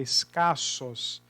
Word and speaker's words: escassos: Porque quando você pronuncia a palavra escassos, o S é pronunciado e o C também.